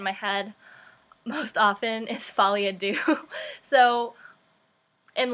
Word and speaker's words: folie à deux: But if you pronounce it wrong and you know how to actually say it right, you also feel kind of uncomfortable. So basically, the correct way to say it is folie à deux.